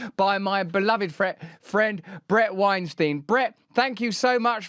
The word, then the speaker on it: Weinstein: I had nothing to do with it, but yes, it rhymes with Einstein. There you go. That's the mnemonic, isn't it? Bret Weinstein.